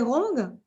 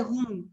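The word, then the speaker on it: 红: Et pour dire rouge en chinois, on dit zhong. C'est rond. C'est rong. Rong.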